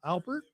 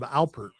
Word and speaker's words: Alpert: How'd you spell it? Herb Albert or Herb Albert? It's actually Herb Alpert, by the way.